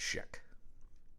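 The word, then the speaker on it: Jonathan Schaech: It's just there's a lot of C's and H's. It's one of those complicated on paper, but it's just pronounced Sheck.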